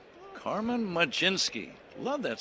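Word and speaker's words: Mlodzinski: What happened to the L O D? I just know how to pronounce it. I can't spell it. Carmen Majinski, right-hander. And where did the J come from? I see a Z. I don't see any J in there.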